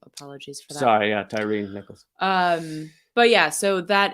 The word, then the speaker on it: Tyre: Also, somebody pointed out that it's pronounced Tyree, so apologies for that. Sorry, yeah, Tyree Nichols.